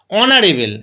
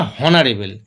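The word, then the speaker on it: honorable: দেখো অনারেবেল, আমরা কেউ বলি না হনারেবেল, তাহলে অনারেবেল যদি হয় তাহলে এইচের উচ্চারণটা হচ্ছেই না, সেক্ষেত্রে অ্যান।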